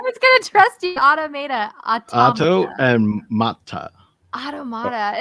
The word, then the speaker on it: automata: Automata. Automata. Automata? No, automata. Auto? I was gonna trust you. Automata. Auto and mata.